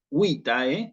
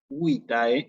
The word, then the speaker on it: vitae: Esta palabra, vitae, o vitae, como se escribe, tiene al final lo que se llama un diptongo AE. En latín, la composición AE es un diptongo, ¿sí?